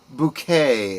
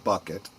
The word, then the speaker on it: Bucket: Uh she played the character of Hyasin Bouquet, as she pronounced it. Everyone else called her uh Mrs. Bucket.